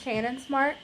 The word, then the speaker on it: Shannon Smart: name shannon smart um i was told once that like when it comes to african-american names that they they they're said how they're spelt um so i i would that's why i had gone with the pronunciation that i did i apologize it's shannon smart i now know how to spell say it i will be saying it the correct way so yeah i love